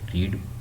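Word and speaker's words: read: Passive wise form of verb जो आपके paragraph दिया था, passive wise form of verb रीड, spelling वही रीड होते हैं लेकिन इसको पढ़ती रेड एंड थर्ड फॉर्म थी।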